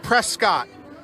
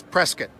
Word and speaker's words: Prescott: it it looks like prescott boy don't say that when you're around here the local pronunciation and the correct pronunciation is prescott so we're gonna be